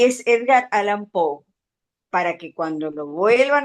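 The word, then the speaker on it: Edgar Allan Poe: no me acuerdo más que que y es Edgar Alan Pou para que cuando lo vuelvan a consultar vean cómo se pronuncia en Google.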